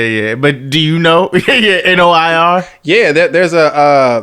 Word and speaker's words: noir: certain type of Photography it's called Noir okay and it's spelled like that n o i r yes okay so I just I would assume that is called Noir yeah EXA okay it gives